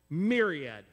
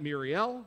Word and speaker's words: myriad: not going to be hard for you to pronounce but it's this one myriad say that myriad myriad it's not muriel it's miriad myriad is a lot myriad is